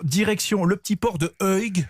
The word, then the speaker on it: Uig: Alors, direction le petit port de Uig, je crois que ça se prononce comme ça, UIG, Uig.